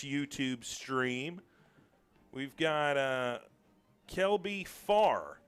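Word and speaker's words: Pfarr: We've got Kelby Farr, and I'm assuming that the P is silent. P-F-A-R-R. I'm just assuming.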